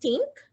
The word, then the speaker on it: TNC: Adrian founded TNC, pronounced TINC, which is the Theodore International Consultancy, to provide export training and support to SMEs interested in achieving export success.